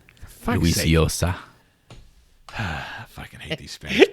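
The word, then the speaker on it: Llosa: You just don't pronounce one of the L's. Yosa. Losa? In Spanish, the two L's make a Y sound. Fuck's Luis sake. Yosa.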